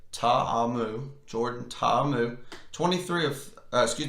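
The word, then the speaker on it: Ta'amu: Ole Miss Jordan will say his name correctly taha mu Jordan Tom move 23 excuse me 22 33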